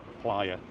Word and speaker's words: playa: I've got viewers saying I don't pronounce player right. Playa.